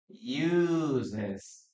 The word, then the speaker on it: uses: Okay, letter S here, and we pronounce an extra syllable. Okay, we have use, uses, uses.